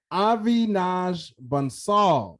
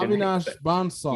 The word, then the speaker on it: Avinash Bansal: Avinash Bansal.